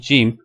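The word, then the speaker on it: جيم: So the letter is called Jim. There is no A sound at the end.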